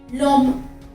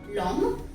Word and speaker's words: l'homme: For example, l'homme. L'homme. Here, if you notice, l'homme, H is silent.